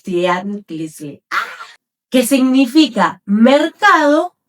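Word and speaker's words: tianquiztli: La palabra tianguis proviene del náhuatl tianquilinguis, tianquistli. O sea, se me hace muy complicado pronunciarlo, pero es tianquistli.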